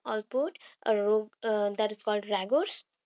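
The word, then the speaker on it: Rogers: Allport that is called रैगोर्स. Actually रैगोर्स नहीं होगा रोगर्स होगा. स्पेलिंग रॉन्ग है.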